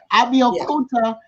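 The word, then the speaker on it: Abeokuta: Abiakuta.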